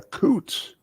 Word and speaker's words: Coutts: hey uh some interesting things happening with the Coots on the news yeah you see the Coots